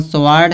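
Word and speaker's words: sword: इसी तरह स्वार्ड है तो स्वार्ड में भी डब्ल्यू क्या होता है? साइलेंट होता है। स्वार्ड माने क्या होता है?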